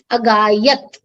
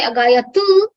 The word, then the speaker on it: agayat: agayatam, you stop with Same way, agayat. That's where we stop. So there is a tendency for a lot of people to say agayatu, but actually it would not be the right way to pronounce.